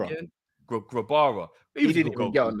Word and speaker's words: Grabara: Kirkland was good, and we had is it Grabera? How do you pronounce his name again? Grabara.